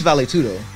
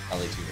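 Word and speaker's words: vale tudo: Nah, he's Valetudo. Valetudo.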